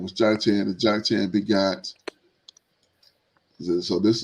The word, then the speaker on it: Joktan: And his brother's name was Joktan. We get to Joktan. We looked at this one before for the sake of Yoktan. Strong's H3355. Yoktan. Yoktan Yoktan.